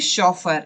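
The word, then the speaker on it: chauffeur: इन्हें हम कहेंगे शॉफर। ये इनकी प्रोनाउंसिएशन है शॉफर, स्पेलिंग पर ध्यान दो।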